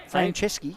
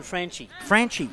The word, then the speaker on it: Franchi: How do you pronounce that, Norm? Franceschi? No, Len Franchi. Franchi.